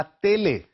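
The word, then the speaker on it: télé: एस आई ओ एन जैसे हम अंग्रेजी में प्रोनाउंस करते हैं उ ए ला तेले एक और तरीका पूछने का टेलीविजन को कहने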